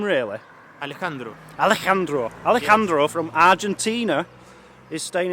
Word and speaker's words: Alejandro: Alejandro.